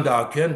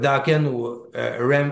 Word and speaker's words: Dokken: Puis là, Ron James, il est comme, il dit, I thought that Dokken rhyme with rockin'.